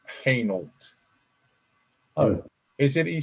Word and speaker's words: Hainault: And he said he has an address to go to in a place called Hainault. No, I said it's pronounced Hainault.